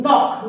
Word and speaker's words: knock: ऐसे और भी शब्द है, नॉक, नॉक यानी खटखटाना, KNOCK, नॉक यानी खटखटाना, नी, KN नी, नी यानी घुटना, घुटना। के बाद एन आ रहा है, के बाद एन आ रहा है, उस जगह के साइलेंट हो जाएगा।